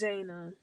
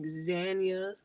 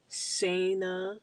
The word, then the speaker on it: Zayna: Like, I struggled with that for the longest growing up. Like Zanya, Sayna. I like that pronunciation anyway. Sayna with an S. Zana, Zane. I hate that one. Like how? How is it Zane?